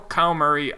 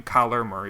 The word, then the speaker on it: Kyler Murray: Still, Kyle Murray, I don't think was going to find a spot in our team. Kyler Murray, excuse me.